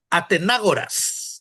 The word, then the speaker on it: Atenágoras: Atenágoras. Acento en la.